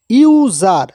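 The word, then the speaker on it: user: এবার পরেরটা দেখুন, ইউজার। যদিও ইউ আছে এখানে কিন্তু আয়ের মতো উচ্চারণ হচ্ছে না, এখানে উচ্চারণ হচ্ছে ইউজার।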